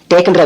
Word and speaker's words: take: டேக், TAKE டேக்ன்ற வார்த்தையில E silent, டேக்னு உச்சரிக்கணும்.